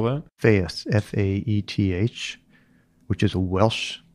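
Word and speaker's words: Faeth: How do you spell that? Faith, F-A-E-T-H, which is a Welsh name for health, F-A-E-T-H.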